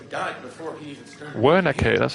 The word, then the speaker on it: Wernicke: Wernicke, that's how you pronounce it, okay.